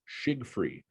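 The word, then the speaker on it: Tschiggfrie: A number of people have asked how that's pronounced. I've been told it's shig-free properties.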